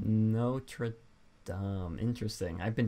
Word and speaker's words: Notre Dame: Is it pronounced Notre Dame? That's what I always pronounced it as. I feel like that could be wrong. I'm just gonna say Notre Dame.